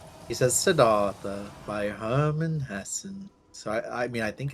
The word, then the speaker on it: Hesse: Herman Hesse. I don't really know how his last name is pronounced. Me neither. Hessen sounds right. But there's no N. It's Hesse. Oh, maybe it's just Hesse?